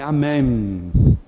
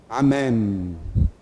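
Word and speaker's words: אמן: Em hebraico fala-se amém. Amém. O M tem que aparecer.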